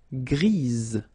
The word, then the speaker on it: grise: for the feminine form, grise. Remember? Grise. Alright? So when you add this E, basically it gives you the pronunciation or the possibility to pronounce the previous letter here. It's Z. Grise.